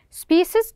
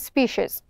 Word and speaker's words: species: to notice you that this species we can pronounce by two ways species and species sporic which means having